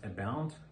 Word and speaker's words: abound: So abound okay, the pronunciation is abound, comes with schwa.